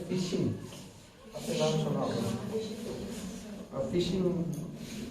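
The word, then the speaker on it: phishing: फिशिंग इसकी spelling नहीं है, PH हो गए या FISH हो गए।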